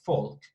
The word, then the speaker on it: Volk: same thing here so actually in german they would pronounce it like that folk and falk means like